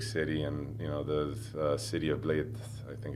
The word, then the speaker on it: Bled: And the city of Bled, I think it's got about 5,000 people, 15,000